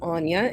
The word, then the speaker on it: Aine: I don't know if the listeners will see the readout, but my name is Anya, and it's spelled A-I-N-E.